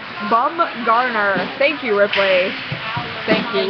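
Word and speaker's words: Bumgarner: Matthew rley has texted in with the proper pronunciation bum Garner thank you Ripley thank you we appreciate it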